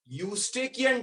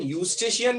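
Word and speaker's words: Eustachian: That duct is यूस्टेकियन tube. उसे pronunciation यूस्टेशियन भी कहते हैं कई बार.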